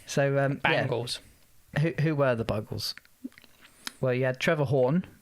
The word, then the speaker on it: Buggles: I always said it's Bugles. Buggles. Yeah. Buggles. Yeah. Yeah, I never really knew if it was. Buggles is the correct pronunciation Fair for enough.